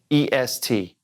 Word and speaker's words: est: word this one a est you're going it sounds just like the one above it es it sure does and why because we don't say the T at the end a now we don't